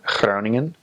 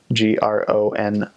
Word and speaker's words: Groningen: So instead of G, it makes a sound. So like Den Haag, H-A-A-G, Den Haag, or Groningen, G-R-O-N-I-N-G-E-N. Make sure I spell that right. Groningen. It doesn't have to be hyper pronounced. A lot of new missionaries come out with a really G, and that's very North Hollands, and it's not necessarily recommended practice. The G ranges from really, really hard in the north to